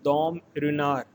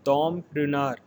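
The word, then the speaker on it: Dom Ruinart: again a champagne label it is pronounced as dom runner here t-word is silent it is dom dinar it is champagne and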